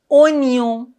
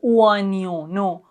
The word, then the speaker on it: oignon: C'est un oignon. On doit pas dire non. Oignon.